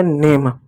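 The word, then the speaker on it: name: जैसे देखिए प्यारे बच्चों, यहाँ पे एक शब्द है एन ए एम ई। ए आया, ए के बाद कॉन्सोनेंट आया, उसके बाद ई आया, तो ई साइलेंट होगा। ए को ए की मात्रा पढ़ेंगे। कैसे? एन का नौ लिख दिए, ए का ए लिख दिए, एम का म लिख दिए, हो गया नेम।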